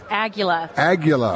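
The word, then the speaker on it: Aguila: Aguilla.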